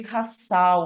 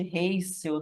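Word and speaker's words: Russell: chamadas de corpúsculos de rassal ou de ricel né não sei bem como é que pronuncia eu aprendi a pronunciar rassal tá raç né então o corpúsculo de raç ele é um derivado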